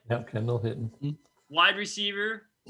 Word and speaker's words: Kendall Hinton: For Tua time, we have Kendall Hinton. Am I pronouncing that right? Yep, Kendall Hinton.